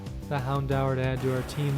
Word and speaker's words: Houndour: I'm so used to saying it, like it is ingrained in my head to say Houndour from just my childhood, and then I'm looking up how to pronounce it properly here, and it turns out it's actually Houndour, which was a little bit surprising to me.